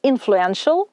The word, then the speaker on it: influential: initiative Ініціативний Influence впливовість influential впливовий не вимовляйте Суфікс як ТЛ він читається як SH influential Support підтримка supportive